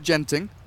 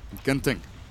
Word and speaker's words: Genting: If you're wondering, in Singapore they pronounce it Genting, which is bad and wrong. In Malaysia, Genting.